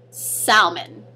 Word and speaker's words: salmon: For example, salmon. Yes, I said it wrong. Why? Because technically there's an L there. It's S-A-L-M-O-N. So it should be salmon.